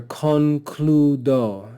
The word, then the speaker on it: concludo: We have the word here, concludo, 3 syllables, so it's polysyllabic, and we see that the penult is long, so we would accent the penult. Concludo, concludo. Here we see tabula.